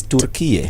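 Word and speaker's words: Türkiye: For example, the Turkish pronounce their Turkey country name as Turkiye.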